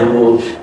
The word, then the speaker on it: rule: Fool is wrong pronunciation. Next say rule. Okay. It's not rule. It's my rule.